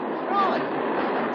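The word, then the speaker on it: Froy: Troy. Sorry, I can't hear. It rhymes with joy.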